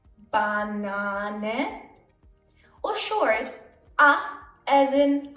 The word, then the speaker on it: Banane: A can be pronounced long. A as in Banane.